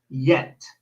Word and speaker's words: yet: we see in Spanish why they pronounce it like a j so for example yet yet a lot of Spanish speakers say jet yeah but jet in English is another word so you listen to it yes yeah and then you pronounce it yet and then write down